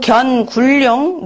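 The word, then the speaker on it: 견군룡: 용구 견굴룡 무수길. 이거는 견으로 해야 돼요. 보다라는 뜻이기 때문에 견굴룡 무수길.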